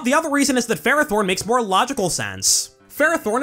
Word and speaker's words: Ferrothorn: As far as I can tell, this Pokemon has always been called Ferrothorn in official Pokemon media. I'm using Ferrothorn! But the vast majority of fans call it Ferrothorn instead for various reasons.